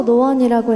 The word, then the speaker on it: No.1: 네, 넘버원이라고 쓰고 노원이라고 읽는데요.